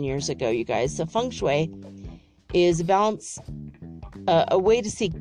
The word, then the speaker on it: feng shui: but it's shui it's how you say it feng shui um it looks like it's spelled feng shui but that's not how you